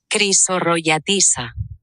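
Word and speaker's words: Chrysorrogiatissa: Se pronuncia así, Crisorroyatisa.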